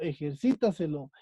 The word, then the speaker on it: ejercítaselo: Pues que la sílaba tónica es la antes de la antepenúltima. Por ejemplo, ejercítaselo.